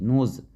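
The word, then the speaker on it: knee: आर्म पिट आर्म पिट के एन E double E नी इसमें के साइलेंट रहता है जब के साइलेंट हो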